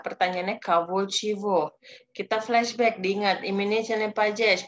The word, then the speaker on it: чего: Ini dibacanya chivo. Walaupun tulisannya cego, tapi kita bacanya chivo.